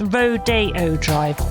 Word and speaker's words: Rodeo Drive: nice don't they can I just mention it's Rodeo Drive Rodeo Drive Charlie told me that but also